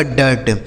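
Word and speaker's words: dirt: यानी आई के बाद अगर आर लिखा होगा तो उस आई का उच्चारण क्या हो जाएगा? ए हो जाएगा।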